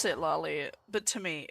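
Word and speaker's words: Citlali: Okay, Clitari. Which is what I call it Clitari because it's what I mispronounced her name as the first time I saw her name.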